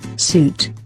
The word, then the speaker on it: suit: Suit. And this is how it should be pronounced. Suit.